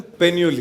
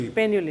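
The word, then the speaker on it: Painyuli: Priyansh sorry यार, surname आप कैसे प्रोनाउंस करते हो? पेन्यूली। पेन्यूली।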